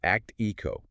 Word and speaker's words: ACTIQO: It's pronounced ACTIQO.